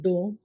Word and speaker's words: dome: BONE bone यानी कि हड्डी, CONE कोन, शंकु, DOME डोम, गुंबद, HOLE होल, छेद, MOLE मोल, मस्सा, NOSE